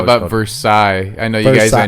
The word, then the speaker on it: Versailles: is it actually versailles it's actually for psych you ain't heard like uh i've heard like radio shows in the morning or something and they'll say for a side kentucky that's how they say it yeah yeah or just